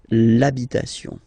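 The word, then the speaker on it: l'habit: the the masculine part even if you've got this ash then the first sound you hear is a okay so for the same reason you will have to take this a away and then you get this labit labit okay and then I've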